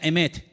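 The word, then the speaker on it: אמת: Y la palabra verdad en hebreo se pronuncia emet.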